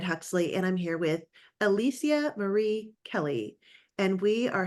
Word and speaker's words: Alicia: I mean, I should say Alicia. That's how you say it. That's how I say it.